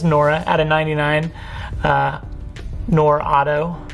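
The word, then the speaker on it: Nwora: I think the W is silent. Yeah, I think it's Nora out of 99.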